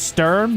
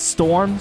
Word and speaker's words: Sturm: Oh, it's pronounced Sturm, not Storm.